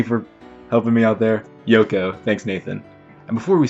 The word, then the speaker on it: Yoko: confirmation thank you nathan i now know it's pronounced yoko so hopefully that confusion is going to be